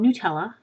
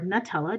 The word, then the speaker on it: Nutella: a cup of chocolate hazelnut spread also called Nutella or Nutella depending on where you live and how you pronounce it stir that around until it's well